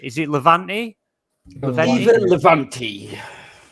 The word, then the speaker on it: Levante: I can never pronounce the name. Is it Levante? Eva Levante. Levante.